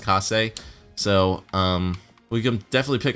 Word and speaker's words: Kase: Let's pick up Case. or Kase. I think his name is actually pronounced Kase.